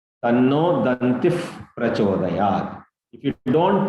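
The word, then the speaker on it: दन्तिः: Om Ekadantaya Vidmahe Vakratundaya Dhimahi Tanno Dantif Prachodayat. The Visarga will produce one F sound. Tanno Dantif Prachodayat.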